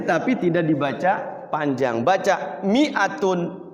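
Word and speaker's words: مِائَةٌ: Mi-nya itu tulisannya ada madnya, ada huruf alifnya. Tapi dia bacanya tidak panjang.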